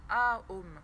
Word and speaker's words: Om: avec le son OM, qui se prononce d'ailleurs A-OM. C'est pas OM, c'est A-OM.